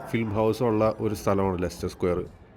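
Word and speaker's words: Leicester Square: ലെസ്റ്റർ സ്ക്വയർ എന്ന് ഇംഗ്ലീഷിൽ എഴുതുമ്പോൾ ആദ്യം നമ്മൾ വായിക്കുക ലീസെസ്റ്റർ സ്ക്വയർ എന്നൊക്കെ ആയിരിക്കും. ഞങ്ങളും അങ്ങനെയാണ് ആദ്യം പറഞ്ഞുകൊണ്ടിരുന്നത്. പിന്നീടാണ് ലെസ്റ്റർ സ്ക്വയർ എന്നാണ് യഥാർത്ഥ ഉച്ചാരണം മനസ്സിലായത്.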